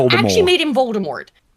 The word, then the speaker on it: Voldemort: Actually made him Voldemort. God on this channel. We do not pronounce the last T.